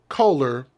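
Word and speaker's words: Koehler: that's very very specific troy kohler and i'm gonna spell his last name k k-h-o-e-l-e-r i think that's how you say it troy kohler's body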